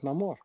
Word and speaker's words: Namor: I love, by the way, I love that we got to know that the pronunciation is Namor.